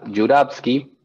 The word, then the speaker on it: Jouravski: tenemos un ruso con un apellido en ruso que se pronuncia jurowski y pueden escribir más